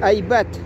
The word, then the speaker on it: айбат: Это потом мы как-нибудь это, чтобы не спутать айбат и гайбат, есть разные слова. Гайбат это вроде нехорошее, что-то типа сплетен. Гайбат, неправда, дескать. Вот. Так что надо запомнить, чтобы произносить айбат.